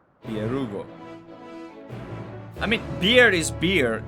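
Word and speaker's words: Byregot: It's Bierugo. In ancient version, the T is silent. The T is silent. Bierugo.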